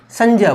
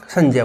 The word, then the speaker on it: संज्ञा: तो इसका उच्चारण क्या होगा? जे होगा। क्या होगा? जे होगा। तो इसे हम क्या बोलेंगे? संज्ञा बोलेंगे। क्या बोलेंगे? संज्ञा बोलेंगे।